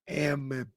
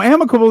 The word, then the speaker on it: amicable: You're adding a letter. Is it two Am I adding two M? Because it's not spelled with two M's. I know it's P. Is it amicable? No. It sounds way wrong. No, amicable is that's the word.